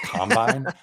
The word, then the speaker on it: combine: they thought that uh that they know means to Mush things together combine is in the NFL context pronounced combine that would just completely